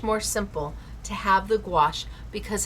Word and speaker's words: gouache: Now, how do you say gouache? I say squash. Gouache. That's how I remember it. Squash. Gouache. Uh gouache. Gowash is how some people remember it.